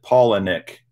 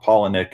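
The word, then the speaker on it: Palaniuk: all the way and he does pronounce it paul and nick it's spelled really odd and you hear a lot of people pronounce it different ways but i heard it straight from the horse's mouth paul and nick is how he pronounces his last name but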